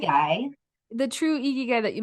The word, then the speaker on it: ikigai: Yeah, because the true how did you pronounce it? Ikigai. Ikigai.